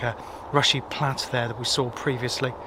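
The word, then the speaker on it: Rushy Platt: I think I pronounced it rushly platt as as many of you that live in the area picked up. It is definitely rushy plat even.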